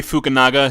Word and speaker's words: Fukunaga: Cary Fukunaga oh boy I'm God not pronounce that wrong I realized I realized very fast after I cuz I was gonna say and you know Naga but then I realized if I pronounced that incorrectly I'll be in big trouble that's Cary Fukunaga he use the he